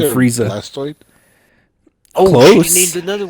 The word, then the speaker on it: Blastoise: It's Blastoise. I would have gave you $50,000 for that. Yep. It's not Blastoid. He's not a hemorrhoid. What it- It's a stoise, like a tortoise.